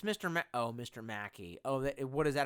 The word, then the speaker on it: Mackey: Macy. I feel like you're some kind of like weird-ass Chinese shill. It's Mr. Mr. Mackey.